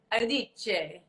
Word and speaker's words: Iodice: So everyone, this is my dear friend Candida Iodice, right? Is that how you say it? Iodice.